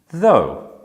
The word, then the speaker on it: though: would be rough and which one rhymes with snow though and which one rhymes